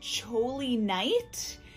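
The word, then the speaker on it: Choly Knight: an Etsy shop called, I think it's pronounced Choli Knight. It's C, Holy, and then Knight, like Knight of the Round Table, like K-N-I-G-H-T. Her link will also be in the description box below.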